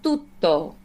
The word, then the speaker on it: tutto: So that it's almost like an in between a D and a T. Fa tutto. Fa tutto. Yeah, just not quite as crisp as we normally do.